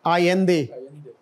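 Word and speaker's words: Allende: Again Spanish जो language है ना उसमें ये डबल एल जो है ना, इट इज not pronounced as एल बट आई, आयंदे, और ये पिनोशे है the military general who ओवरथ्रू हिम।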